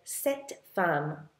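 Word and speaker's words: cette femme: fam which means woman if you want to say this woman or that woman you say setam but it's spelled c TT e setam this or that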